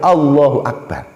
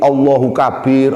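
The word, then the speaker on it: الله أكبر: Kabid Yoga oleh tim redaksi tak begitu hanya Allohuakbar anda berubah menjadi Allahu Kabir allahuakbar atau dibalik ini baru Allah tidak boleh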